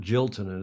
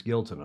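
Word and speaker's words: Giltinan: The JJ, as it's called, the JJ Giltonen. And it's not Giltonen, it's Giltonen. I actually checked that pronunciation this morning.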